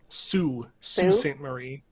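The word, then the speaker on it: Sault Ste. Marie: too yeah and what how did you say you pronounce it sue marie but saint even though usually you see saint is like s-t right or is that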